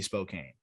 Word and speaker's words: Spokane: to know that, but there's an E in there. It's Spokane is a very, very fair, I feel like, pronunciation there. I understand. I'll wear Zach Veen being too low. I'm gonna just say it should be Spokane.